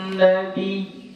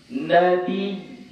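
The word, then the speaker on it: نبي: Karena ya yang ada di situ dia bertasydid. Jadi nggak dibaca panjang. Jadi cara bacanya ditekan. Ya, dia ditekan. Jadi kayak mana bacanya? Dengarkan Buya. Inna Allaha wa malaikatahu yusalluna 'alan nabi. Nabi gitu. Agak ditekan. Nabi.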